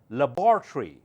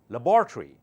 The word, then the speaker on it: laboratory: American pronunciations are different in British English it's called laboratory labor laboratory in American English laboratory labory laboratory laboratory or laboratory give yourself a score